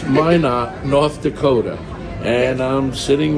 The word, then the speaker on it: Minot: pronouncing I'm cor up Mino Mina but it's Min not North Dakota and I'm